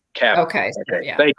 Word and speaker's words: Cavill: Okay, say it like travel, but okay, but Cavill. Okay. So, Okay, yeah. thank you, Nick. Thanks for the assist there. Yeah. Cavill.